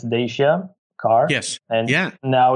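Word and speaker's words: Dacia: about cars you know we had our we pronounce it - yeah it's Dasia car yes and yeah now it's a very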